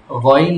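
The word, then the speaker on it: غين: গাইন গাইন গাইন পড়্যা গাইন গন হবে গাইন বলবা না আবার বলন বল হবে না আমার পড়া শোন আমি যেটা বলি সেটা বল গাইন হবে না কথা বুঝতেছো কি বলছি আমি গাইন বলবা না গন বল এবার হয়েছে এটা খেয়াল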